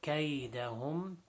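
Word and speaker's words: كَيْدَهُمْ: So kaydahum, again, just like kayfa, the angle, the bend in kayda should be pronounced properly, not kaydahum.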